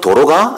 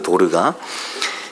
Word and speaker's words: 도르가: 어떤 분은 도로가? 이런 분도 있더라고요. 도로가가 아니고, 이게 발음이 안 되실 수는 있는데 도로가가 아니고 도르가입니다. 도르가.